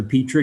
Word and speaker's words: Petrie: Lindsay, I actually pronounced Pete, but I answer to Petrie because it's spelled that way. I think it's a French pronunciation.